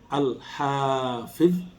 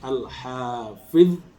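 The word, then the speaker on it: الحفيظ: Yang satu Al-Hafidh, hanya panjang, V-nya pendek. Al-Hafidh, atau hanya pendek, V-nya yang panjang, Al-Hafidh.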